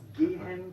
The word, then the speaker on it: gehen: La G en alemán se pronuncia siempre G, ¿ok? Decimos gehen und digital, no decimos digital y no decimos gehen.